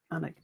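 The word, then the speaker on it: Alnwick: chipchase bambra or onck onic how do you pronounce it anik that's it anik uh my daughter did like Harry Potter at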